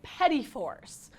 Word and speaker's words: petit fours: These orange raspberry petit fours.